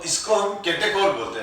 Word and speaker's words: catechol: जैसे ये है, तो इसको हम केटेकोल बोलते हैं बेटा। क्या बोलते हैं, CATE, केटेकोल, CATECHOL, स्पेलिंग यही है, CATECHOL, केटेकोल।